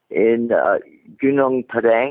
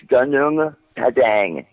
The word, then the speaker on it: Gunung Padang: in China, say, okay, or this pyramid in Gunung Padang, I think is how you pronounce it, that Graham Hancock You're asking the wrong person for pronunciation advice. Yeah, I think it's Gunung Padang, and Yeah, it's in good enough for me.